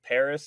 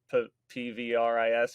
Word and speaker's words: PVRIS: of pop music like paris is really great or pvris or however you say i'm pretty sure it's pronounced paris but um their stuff's